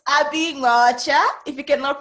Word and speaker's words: Nwaocha: Yeah, it's Abbie Nwaocha. If you cannot pronounce it, Abbie is fine.